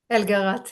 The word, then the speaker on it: Elgart: Elgart. Is that how you say it? Elgarat, yeah, it's okay. Elgarat.